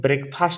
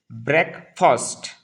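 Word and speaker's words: breakfast: देखो यहाँ एक चीज ध्यान दो आप लोग, ये जो वर्ड है ब्रेकफास्ट, ठीक है, इसको बहुत सारे लोग ब्रेकफास्ट प्रोनाउंस करते हैं, जो कि इंग्लिश में रॉन्ग कंसिडर किया जाता है। इसको मिसप्रोनाउंसिएशन कहा जाता है। ठीक है, तो हम उसका सही उच्चारण यानी कि सही प्रोनाउंसिएशन क्या है बेटा, ब्रेकफास्ट। ब्रेकफास्ट एक साथ बोलना है, ब्रेकफास्ट।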